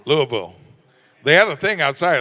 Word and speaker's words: Louisville: It's a lot of fun in these fans out here, especially Louisville, right? Louisville? Yeah. Don't say it wrong. Louisville.